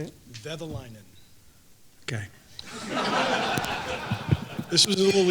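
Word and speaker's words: Kekäläinen: Kekalainen.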